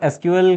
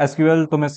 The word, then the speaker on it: SQL: तो एसक्यूएल तुम सबको पता है क्या होता है, स्ट्रक्चर्ड क्वेरी लैंग्वेज, और बहुत लोग एसक्यूएल को सीक्वल भी प्रोनाउंस करते हैं।